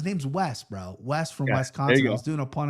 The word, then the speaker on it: Wisconsin: Wisconsin. Yeah. How do you say it, bro? Bro, it's it's an I, not an E. Wiscon. Wisconsin.